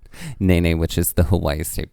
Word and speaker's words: Nene: like well just felt like Nene crossing names naynay which is the Hawaii State Brit young and it is pronounced Dana that's right can we just say